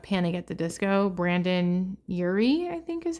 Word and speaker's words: Urie: The lead singer of Panic at the Disco, Brandon Urie, I think is how you say it.